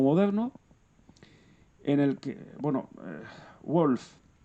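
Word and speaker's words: Wolff: en el que, bueno, Wolf o Wolf, ¿no? Según la pronunciación alemana, aunque la española pues podría ser Wolf perfectamente, pues instaura una ontología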